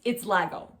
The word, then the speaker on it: lagom: It's Lagom is how they say it.